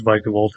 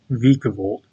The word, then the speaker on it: Vikavolt: hate it but vikavolt it is vikavolt I previously called it viavolt wait how do you